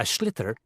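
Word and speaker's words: sliotar: you have to get this ball called a schlitter that's s l i o t a r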